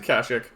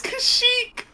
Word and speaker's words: Kashyyyk: It's Kashyyyk. Depends which game you play. It's what they just say in the movies. You're right, but in Knights of the Old Republic, it's pronounced Kashyyyk.